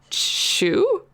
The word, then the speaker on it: choux: The Edmonton Tourist shared with us that she made Claire Saffit's pâté choux. Yes, choux. I can pronounce French.